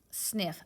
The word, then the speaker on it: sniff: Mark one out. The sound will hide. We're not going to pronounce both of those F's. Read that word. Sniff.